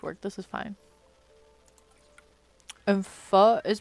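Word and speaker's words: phở: We are looking at how to pronounce in Vietnamese pho. Pho. Pho. Vietnamese soup. Pho. Pho. But the end is more elongated.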